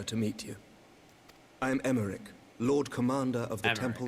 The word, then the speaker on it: Emmerich: meet you i am emmerich lord commander of the temple knights okay so i was going a bit too hard with the pronunciation of america this is america okay alfie no levier at